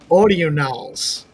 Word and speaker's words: Audionals: I say audionals because I pronounce things weird anyway, but it's audionals. It's audio NAL. Audio. Audionals. Audio. So instead of ordinals, it's audionals.